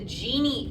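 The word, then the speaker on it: Gini: n z and the other is called the genie index and that's spelled GI i n okay the genie index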